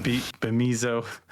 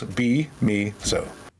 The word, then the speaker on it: Bemizo: Bemizo, Bemizimo Station. Yeah, just break it down. Just break it down to the 3 syllables. Be-me-zo.